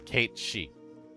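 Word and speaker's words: Cait Sith: Yeah, I never did get the original pronunciation of his name. Yeah, it is Kate Shei.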